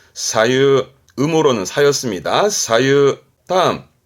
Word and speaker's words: 左右: 발음은 사유, 사유, 음으로는 사였습니다.